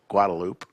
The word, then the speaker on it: Guadalupe: manack instead of Manaka and then of course Guadalupe guadaloop mayor yeah could also call it the drag